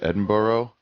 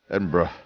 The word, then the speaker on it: Edinburgh: Some people pronounce it Edinburgh. It is not that. It is more like Black Brother. In so much as it is bruh. Bruh. You know that H? How do they pronounce that H at the end? Is it bruh? No, that's wrong. Bruh. Edinburgh. Anyway, I'm here.